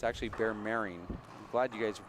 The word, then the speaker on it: Meiring: It's actually Bear Meiring. I'm glad you guys mispronounced his name many times.